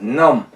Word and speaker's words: numb: 이때 비발음은 무구마에서 비발음은 내지 않습니다. numb.